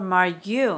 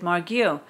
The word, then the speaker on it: Margu: and I said oh is it margu or Maru and he said margu and I said oh my goodness I've been